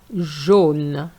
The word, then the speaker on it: jaune: Jeune, jaune. AU gives you the sound O.